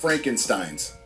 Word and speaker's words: Frankenstein: And desecrated by the creatively bankrupt Frankensteins. It's pronounced Frankenstein.